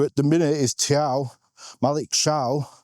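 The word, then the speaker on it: Thiaw: the minute is Malik Chow. Like, there's a lot of players with weirdly pronounced names this season. Chow. How do you spell Chow? T-H-I.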